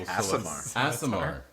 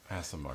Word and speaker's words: Aasimar: I can't pronounce the angel. Aasimar. Aasimar.